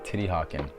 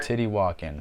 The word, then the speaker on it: Teotihuacan: Last up for this half is liquid mercury in Titihakan. And don't even get mad at me if I say this wrong, because I got Google Translate right here telling me this is how it's said. Titihakan.